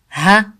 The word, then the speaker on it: ها: نون ن ن ن ها ها Sound is just like the English h sound sound sound ها like